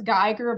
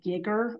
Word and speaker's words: Geiger: looks like it says Geiger because it's a German word so we pronounce the second vowel there um a lot of